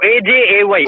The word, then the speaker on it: Ajay: AJ-AY. Actually, Ajay in India, but AJ for better pronunciation.